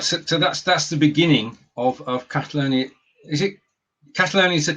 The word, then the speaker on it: Catalonia: So that's the beginning of Catalonia. Is it Catalonia is the correct pronunciation?